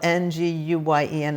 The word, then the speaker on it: Nguyen: And it's pronounced, even though it's spelled Nguyen, it's pronounced like when or win.